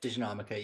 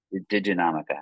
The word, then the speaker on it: diginomica: never say the name diginomica did did how do you say it yes diginomica yep diginomica I don't know why